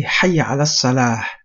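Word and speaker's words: Hayya 'ala s-salah: Also, you need to say Hayya ala salah. You need to pronounce a ha at the end, as in not doing so, it will be calling people to the fire in terms of the meaning.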